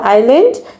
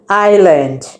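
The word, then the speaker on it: island: অর্থাৎ তোমাদের এটাও মাথায় রাখতে হবে, আমরা বলার সময় বলবো আইল্যান্ড, এবং লেখার সময় কি লিখবো? ইজ, IS ইজ LAND। অর্থাৎ প্রথমেই হবে ইজ, তারপরে হবে ল্যান্ড। সেটাকে আমরা বলবো উচ্চারণ করার সময় কি বলবো? আইল্যান্ড।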